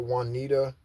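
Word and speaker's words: Juanita: okay the song that Wanita her name is spelled j u a n i t a Wanita um also shaita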